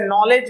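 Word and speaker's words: knowledge: Needing, जैसे नॉलेज है तो KNOW, के से शुरू हो रहा है, लेकिन के को साइलेंट रखते हैं क्योंकि के और एन ये दोनों ही कॉन्सोनेंट हैं, इसलिए पहले वाले कॉन्सोनेंट को छोड़ दीजिए, दूसरे वाले से शुरू कीजिए।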